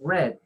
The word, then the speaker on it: read: Ok, Adalí, lo que pasa es que acá donde le corregí red es porque está el participio. Entonces el pasado o el participio es red, pero se escriben igualito.